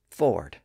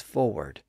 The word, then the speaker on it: forward: with the word forward at one time the W sound had largely disappeared in that second syllable and it was pronounced as Ford but in recent centuries that W sound has started to reappear as forward I think you can probably hear both pronunciations today another situation where the